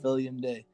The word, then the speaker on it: Filium Dei: Am I pronouncing it right? Filium Dei.